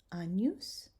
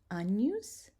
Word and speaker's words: Agnus: And finally, the G, when it's together with an N, we're going to pronounce it nya, as in canyon. And here's some examples. Agnus, magnam, ignis, magnificat. Say those together. Agnus, magnam, ignis, magnificat.